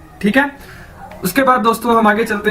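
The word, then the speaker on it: 好: हाउ। जिस तरह आप इंग्लिश का वर्ड बोलते हैं हाउ, तो इसी तरह आपने इसे बोलना है हाउ।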